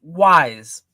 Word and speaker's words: Wise: That the s makes like a z sound more than it's not a s.